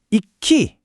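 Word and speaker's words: 壱岐: 그래서 일기가 아니라 이키 이렇게 발음되는 이유가 바로 여기에 있는 겁니다.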